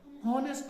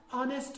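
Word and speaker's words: honest: हॉनेस्ट नहीं होता है, ऑनेस्ट होता है। क्या होता है? ऑनेस्ट। ये याद रहा, एच की आवाज नहीं निकालनी है हमने।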